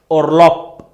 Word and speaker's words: Urlaub: Okay, if any word in German ends with B, D and G shall be pronounced as P, T, K. I'll show you the example. For example, there is a word URLAUB, Urlaub, spelled as Urlaub,